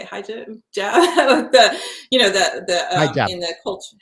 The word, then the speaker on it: hijab: Hijab?